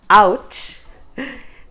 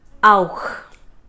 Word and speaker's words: auch: No, it's not ouch. That is pronounced as auch. Auch. So the CH at the end is ch from the epiglottis.